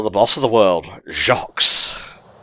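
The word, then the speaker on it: Jacques: boss of the world jacque's or just junk because in French you don't pronounce the S at the end of almost anything I don't trust your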